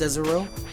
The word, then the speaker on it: Cesaro: It's pronounced Cesaro.